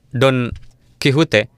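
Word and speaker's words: Don Quijote: dalam bahasa Spanyol diucapkan Don kihute di sana mereka tidak mengucapkan huruf x dalam bahasa Spanyol mereka mengucapkannya dengan H atau bunyinya merupakan huruf jadi pengucapannya adalah Don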